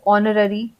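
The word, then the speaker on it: honorary: फिर जैसे कुछ वर्ड है जिसमें एच साइलेंट है जैसे ऑनररी ऑनरियम तो ऑनरी जब हम सुनते हैं तो हमें ऐसा लगता है कि ऑनरी ओ से स्टार्ट हो रहा है लेकिन ये स्टार्ट होता है एच से तो यहां पे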